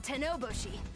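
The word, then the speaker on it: Tennouboshi: The name's Tenoboshi. What's yours? Tenoboshi.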